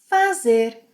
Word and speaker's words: faz: Fazer. Eu faço with a s sound. Faço, faço. Você, ele, ela, a gente faz with a s sound.